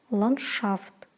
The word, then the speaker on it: ландшафт: Н-д-ш произносится как н-ш. Например, ландшафт.